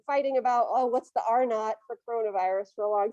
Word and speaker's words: R0: Okay, so you pronounce that little zero as not, R0.